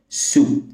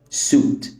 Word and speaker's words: suit: وهشرح كمان معانيهم الاساسيه اول كلمه هي سويت والتانيه سويت برضو والثالثه ست سوت سوت تعال نبتدي باول واحده